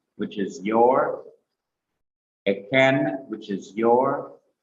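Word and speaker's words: ־כֶן: Second person plural feminine is simple shua, kaf, segol, noon, E-K-H-E-N, eken.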